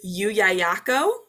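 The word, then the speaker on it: Llullaillaco: the kids like they love this word is yu yayako and it is a spanish volcano or it's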